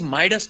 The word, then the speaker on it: Midas: is a word d-e-b-u-t d-e-b-u-t um but the pronunciation is debut debuted it is Midas Touch so it is Midas Touch m-i-d-a-s so in English the word is